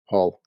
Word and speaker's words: Hull: called Hull h l Hull okay Hull oh Hall okay yeah oh or all as we pronounce it in our in our thickest Yorkshire accent yeah yeah so we